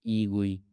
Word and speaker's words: egui: As you can see, Egui is pronounced as Egui and is a simple, faster, and highly portable immediate mode GUI library.